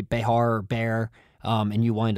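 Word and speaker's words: Bexar: english very confusing and down in texas they apparently pronounce it bear so if i say behar or bear and you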